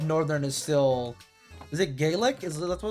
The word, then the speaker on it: Gaelic: There's some country that like Gaelic is a language. It's not like pronounced like that. It's Gaelic.